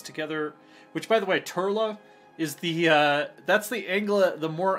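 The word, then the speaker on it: Toirdhealbhach: how to say it, that's actually Turla. Like, Irish is just basically ignore most of the letters, and that's how you actually pronounce it.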